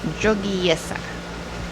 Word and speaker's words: Jogyesa: Chantal, how do you pronounce that? Jogyesa.